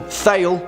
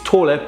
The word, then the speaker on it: Thale: Now, some of you may pronounce this film Thale, which is fine. I mean, it's Tåle, but whatever, say what you want.